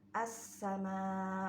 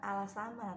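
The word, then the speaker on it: السماء: r-nya terus Alif Lam yang diikuti Sin Jadi dibacanya assama bukan Al sama tapi assama gitu ya terus Alif Lam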